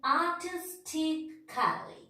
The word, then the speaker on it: artistically: So artistically. A we are not pronouncing.